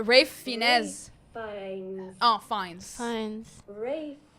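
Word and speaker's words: Ralph Fiennes: I used to think it was Ralph Fen. You write it up, but I think it's it's I think it's pronounce Rafe.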